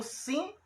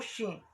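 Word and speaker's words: ש: Ou pode ser o Sim ou Shin. Essa letra, quando muda o ponto, de um lado para o outro, aí tem uma mudança na pronúncia, Sim ou Shin.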